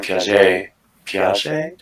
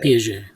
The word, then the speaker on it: Piaget: I'm sure if like Jean Piaget, how do you say it? Piaget.